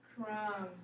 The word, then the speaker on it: crumb: it from crumb remember we're going to take that v off because it's silent crumb very good me good